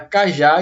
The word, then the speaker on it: cajá: é o acertei mantido Por que a palavra cá já é uma palavra oxítona palavra cuja a última sílaba tônica E aí eu posso